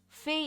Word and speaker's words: Phe: Fei is spelled as PHE.